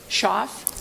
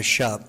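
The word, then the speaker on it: Schopf: Shoff? Uh, Shup. The F is silent. The F is silent. So, shop.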